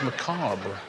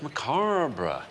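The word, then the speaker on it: macabre: thing is macra is if that's how you pronounce that word it is it's Mar sounded like I had one too many syllables in no no it's Ma BR thanks Richard now we've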